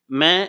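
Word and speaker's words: मैं: அச்சா ஆத்மி நஹி ஹூ மே என்பது நான் இதை மெயின் படிக்கக்கூடாது ன் அழுத்தக்கூடாதுங்க இன்ன்றது அரை மாத்திரையில் தான் உச்சரிக்கணும் அச்சா என்பது நல்ல அப்படின்னு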